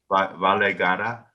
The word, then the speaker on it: Valay Gada: I'm not saying it right. You are. Valay Gada, yes? Yes, yeah.